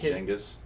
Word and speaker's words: Genghis: It's pronounced Genghis.